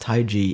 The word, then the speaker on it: TaiG: originates from an ancient Chinese philosophy and is pronounced taii in Chinese the third question is it is